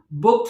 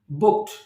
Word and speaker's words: booked: can pronounce it fluently it sounds very rhythmical booked into something else and follow the pronunciation booked when i'm pronouncing it how i am pronouncing